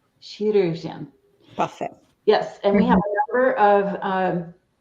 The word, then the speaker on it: chirurgien: Chirurgien. Chirurgien.